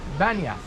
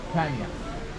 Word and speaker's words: Banias: And Banias is actually should be with P, Banias. 这个巴尼亚呢，应该是用 P 来发音的，巴尼亚。 But when the Arab Muslims conquered this land, they call it Banias with B because there is no character P in Arabic.